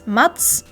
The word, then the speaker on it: Matsushita: And as for Matsushita, you have both tsu and shi. They're their own sounds in Japanese. So it's Matsushita.